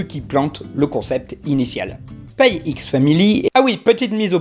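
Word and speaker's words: Spy x Family: petite mise au point je suis parfaitement au courant qu'il est probable que le x ne se prononcent pas et que ce soit en fait une sorte de hocine de multiplication comme pour hunter x hunter ou high school des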